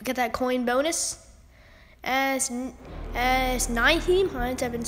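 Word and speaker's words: Nyheim Hines: As Naheem Hines, I've been saying it wrong. I've been saying like Nick Hines or, I don't know.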